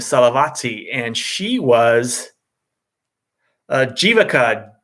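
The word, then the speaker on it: Jivaka: just says um so the v is not super pronounced it kind of sounds a little bit more like a w um all right so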